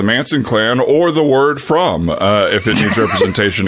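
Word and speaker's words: Fromme: um and uh but no it's squeaky from it's not squeaky okay thank you so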